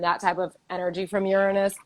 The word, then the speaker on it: Uranus: planet in our solar system okay it is pronounced uranus please stop saying you're anus like it's anyway it's pronounced uranus and it is definitely the planet of um